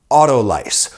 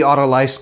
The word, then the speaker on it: autolyse: Autolyse. Or autolyse would be the French pronunciation.